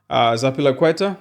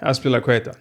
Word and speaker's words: Azpilicueta: The first one, Zapilaqueta, is that how you say it?